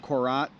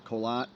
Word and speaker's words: Korat: uh suburbs of the city of Korat which locally we pronounce colat and in the Ean